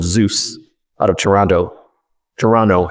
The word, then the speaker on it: Toronto: Toronto, if you're from there, you don't pronounce the second T.